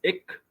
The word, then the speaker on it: ek: So, for example, ek is ik in Kaps.